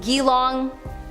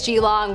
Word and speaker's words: Geelong: the old Geelong jail it could be pronounced gilong I don't know I tried looking it up I think it's g-long we're going with it another Australian prison